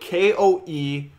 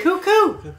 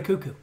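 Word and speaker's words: Koekkoek: I can't pronounce his name. It's like... He is Jim Benning's worst nightmare. It is like Koekek or something like that. Yeah. It's Slater Cuckoo. Koekek or something. No, it's Slater Cuckoo.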